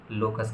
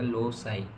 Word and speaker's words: loci: बताए, तो उसी को हम क्या कहते हैं, लोकस कहते हैं। इसी का प्लूरल फॉर्म लोकाई है। ठीक है, जैसे हम लोकी या लोकाई बोलते हैं, जैसे हम इसका प्रोनाउंसिएशन यहाँ पे बताया गया लोसाई।